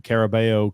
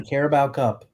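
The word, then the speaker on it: Carabao Cup: read it off right he lost two um caribo Cup finals caribo cup caribel it's caribo Grump I pronounce that correct um so he lost two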